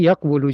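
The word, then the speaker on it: يَقُولُ: So they switch their spot and then becomes yaqulu. Yeah. Supposed to be yaqulu, just like yansuru, right?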